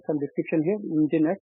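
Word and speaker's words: Nginx: right some description here engine X pronounced that engine right so basically they have dropped the letter e and they start with instead of e is starting as n right so the Eng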